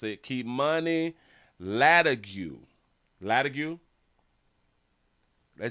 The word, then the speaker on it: Latigue: Latigue is how they pronounce it? Latigue?